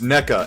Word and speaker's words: NECA: You know, um the Neco or Niko uh action figures. Have you ever seen those? How do you spell it? I think it's ne Oh, it's NECA. neca.